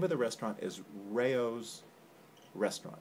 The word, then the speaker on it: Rao's: of the restaurant is rayo's restaurant it's spelled r-a-o-s it's rail's restaurant or rouse depending on how you say it we're going to go with rayo's today and it's an institution